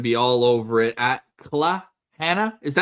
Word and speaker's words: Claire Hanna: We're so jealous and we know that you're going to be all over it at CL Hannah. Is that how you pronounce it or do you do cla clana clana all your social media obviously and we're